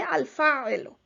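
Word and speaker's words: الفاعل: the verb, is called al-fa'il. You can also continue and pronounce this haraka at the end, the vowel sign at the end, and you can say al-fa'ilu.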